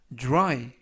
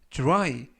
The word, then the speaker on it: dry: 이번 표현은 dry, dry, dry 라고 발음하시면 되겠고요. 이때도 역시 dr 발음이 dru, dru, 그래서 dry 라고 발음하시면 되겠습니다.